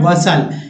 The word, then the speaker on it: bustle: जैसे एग्जाम्पल के रूप में, फॉर एग्जाम्पल देखिए BUSTLE, देखिए STLE है, इसमें टी को नहीं पढ़ना, क्या पढ़ना है, वसल, टी पढ़ना ही नहीं, वसल, वसल मीन्स हलचल।